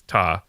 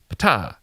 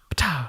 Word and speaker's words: Ptah: Remember, that's what that word that it's at Ptah that I assumed would just be like, just cancel out the P and just it's Ta. But when I looked up pronunciation, people were like, Ptah. Ptah.